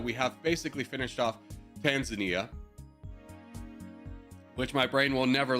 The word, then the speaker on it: Tanzania: Tanzania. Dude, I don't know why my brain is just, like, refuses to remember the correct pronunciation. Tanzania.